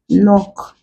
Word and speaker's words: knock: have words like nights knock in it these words contain the UN sound why because the first letter K before the N is silent also g n as